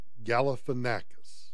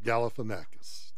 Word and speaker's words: Galifianakis: watched yesterday where it is okay Angie Zach Galifianakis yeah I have it I have it phonetically spelled out here Zach yeah Zach Galifianakis Galifianakis who is some comedian he apparently did